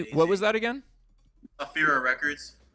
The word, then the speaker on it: Ephyra: Afira Records. Spell that.